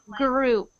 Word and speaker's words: group: the next one gr so I'm hearing a bit of rolling on your tongue so instead of it sounding like G what's happening is your tongue is going like this it's going like this up and down a couple times so for you it's sounding like g g i want it to sound like group group gr good good good